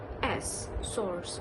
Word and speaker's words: source: they always pronounce it as source source they pronounce it like s-o-r-s source which is wrong in british english we pronounce